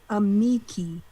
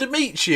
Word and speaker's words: Amici: Oh, by the way, Baruch in the chat writes, just ask my lawyer mom, it's pronounced Amiki. Amiki.